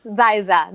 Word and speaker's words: Xyza: bottom here is a news for kids yes zaisa that is how you pronounce it too am i saying it right